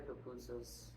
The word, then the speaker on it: pupusas: I've tried their pupusas. That's The what? the pupusas. Oh. That's how they're pronounced.